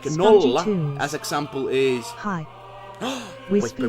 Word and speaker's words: nolla: But like always when you pronounce like nolla, you say it like nolla.